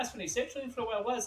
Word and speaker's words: sertraline: I was on sertraline, I forget how you say it.